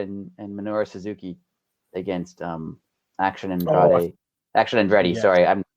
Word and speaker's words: Andrade: Did you notice Kevin Kelly said Andrade's name wrong several times, and then said Andrade's name when he talked about Action Andretti. Andrade, yeah, he pronounced Andrade wrong every time until he had to talk about Action Andretti, and then he called him Andrade.